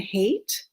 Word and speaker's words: Haight: second one is called love and hate h AI ght which is shows it's